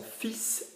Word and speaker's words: fils: Fils is a word which is pronounced terribly weirdly because there is no E after the S, but we will still say fils, F-I-L-S. And we will pronounce the S.